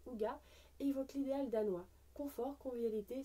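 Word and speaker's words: hygge: sans équivalent en français le terme a prononcé au gua évoque libéral danois confort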